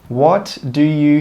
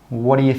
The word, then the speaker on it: what do you: Woddayuh think? Woddayuh think? Woddayuh think? We don't say 'what do you'. We join those three words together and we say 'woddayuh, woddayuh, woddayuh.'